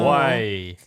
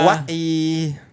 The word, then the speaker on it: Hawaii: Hawaii. Yeah. Hawaii. Yeah, apparently most people mispronounce Hawaii when they say it Hawaii like that.